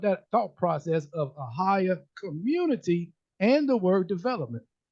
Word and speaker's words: AHAYAH: and the organization are higher uh higher did I pronounce that correctly yes sir Ohio okay good a